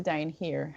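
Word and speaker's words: Dain Heer: Dane here hey it's spelled da I in hate EE are now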